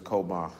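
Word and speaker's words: chowmah: The word is koma. It's C-H-O-W-M-A-H.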